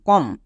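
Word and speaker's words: comb: যেমন একই রকমভাবে দেখো, প্রত্যেকটি ওয়ার্ডের শেষে বি আছে এবং এম এর পরে বি আছে, তাই বি সাইলেন্ট আছে। যেমন COM, কম, BOM, বম, THUM, থাম।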